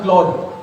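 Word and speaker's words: Claude: Coding के लिए मैं यहाँ पर आया, इसका नाम है क्लोड, ई साइलेंट है, और इसके पीछे जो मॉडल यूज हो रहा है वो क्लोड 3.5 सोनेट यूज हो रहा है।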